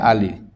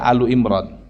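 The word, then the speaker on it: آل عمران: Ya, saya nggak tahu kenapa dibaca Ali di Indonesia. Karena secara i'rab mungkin harusnya bacanya Alu Imran.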